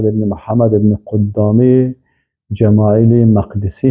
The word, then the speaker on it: مقدسی: محمد بن قدامه جمایل مقدسی هست مقدسی نگویین مقدس از بیتالمقدس بیتالمقدس است اهل علم بیتالمقدس تلفظ میکنن و کسایی که مثلاً مقدس میگن باز ا نمیفهمن همی اصل کلمه پس ای مقدسی هست